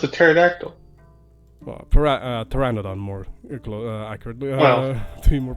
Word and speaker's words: pteranodon: Well, pteranodon, more accurately, to be more precise. But yes. They're great. The P is silent.